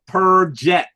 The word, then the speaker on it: perjet: We call them the perjet. Perjet. You could spell perjet if you'd like. You could spell it P-E-R, second word, D-J-E-T.